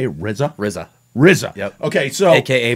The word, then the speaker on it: RZA: RZA.